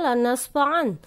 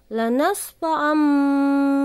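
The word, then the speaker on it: لَنَسْفَعًا: Harusnya bacanya lanasfa'an, tapi karena sesudah tanwin huruf ba, maka dibacanya lanasfa'am bin nasiyah. Oke, jadi tugas kalian mencari iklab dalam juz amma 3 saja.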